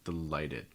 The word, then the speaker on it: delighted: stressed so for instance delighted so the stresses on the second syllable so first syllable gets reduced this is going to have a schwa sound delighted and guests oh the